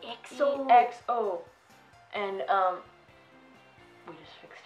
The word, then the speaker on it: EXO: And it's spelled EXO. That's right. And they go like EXO.